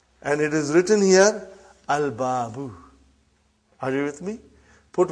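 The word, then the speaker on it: الْبَابُ: So I did pronounce Lam. Are you with me? I did pronounce Lam. But if the next letter is Ba. And it is written here, Al-Babu.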